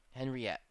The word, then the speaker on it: Henriette: I believe it's Henriette. Let's see. Tropical cyclone names. That's the Atlantic. I want the Pacific. Here we go. Pacific Basin. 2019. Henriette. There we go. There's the pronouncer. Henriette.